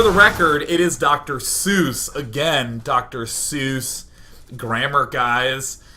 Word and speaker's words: Seuss: are typing they're typing it's pronounced then they have to type it out phonetically like I have time to understand that it's pronounced Sy Yoo with there's some Accents in there Hy and you know for those people who think that Seuss is a two- syllable word like I mean I